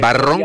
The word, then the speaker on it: Barrón: Recuerden, Barrón como si fuera el color marrón, pero con B.